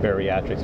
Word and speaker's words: BEARiatrics: bariatric but bariatric is built a little bit different we spell it b e a r i a t